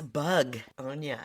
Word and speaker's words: Bugonia: No, it's Bugonia. Yeah, begonia, the flower, is spelled with an E. This is spelled with a U.